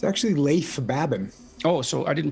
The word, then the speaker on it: Leif Babin: The Dichotomy of Leadership with fellow retired SEAL Leif Babin. Did I pronounce that right? Nope. It's actually Leif Babin. Oh, so I didn't pronounce it right at all. Leif Babin.